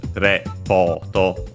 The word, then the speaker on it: レポート: we have seen that in Japanese it only has the accent on the po. So ripoto, repoto.